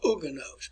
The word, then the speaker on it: Huguenot: are referred to as Huguenots. As Huguenots. If you can't read my writing, that's Huguenots. Huguenots. And the word is pronounced Huguenot. Huguenot. All right, so that was